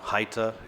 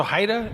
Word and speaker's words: HIDTA: background on exactly what Haida is? Yeah, so Haida is an acronym that stands for, it's spelled HIDTA. It's a high-intensity drug trafficking area.